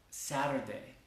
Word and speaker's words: Saturday: Entonces es muy común que nosotros como hablantes o habladores, como se dice, de español, le metemos una E al principio de esas palabras. Por ejemplo, decimos school o Saturday. Porque no nos queda muy cómodo empezar estas palabras con la S.